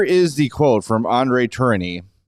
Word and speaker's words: Tourigny: Here is the quote from Andre Tourigny. I Google it, that's how you say it.